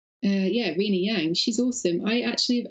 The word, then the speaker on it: Rina Yang: Yeah, Rina Yang.